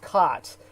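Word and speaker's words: qat: That's cat, as it's spelled cat. Q-A-T, but it's really pronounced cot.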